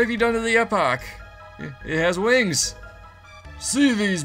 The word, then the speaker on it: Epoch: It's not Epox, it's the Aerodalton Imperial! Mwahaha, you are excess baggage! Make like the wind and blow out of here! You sound like a fool when you say it wrong.